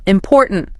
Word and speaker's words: important: Pause again. Second syllable. Important. That's where the energy goes.